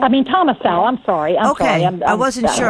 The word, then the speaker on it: Thomas Sowell: You talking about Thomas Sowell? Thomas Sowell? I mean, Thomas Sowell.